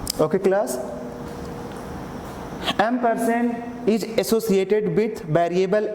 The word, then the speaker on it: ampersand: Okay class, now here class, it is okay, it is pronounced as a ampersand, not and.